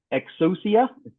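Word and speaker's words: Exousia: and um glassfish 8 Milestone 5 and Eclipse exusia that's how you pronounce it 30 Milestone 3 concurrency um provides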